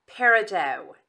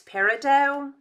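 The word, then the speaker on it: peridot: collecting these okay next parido it's spelled p e r i d o t I believe that's parido told me I needed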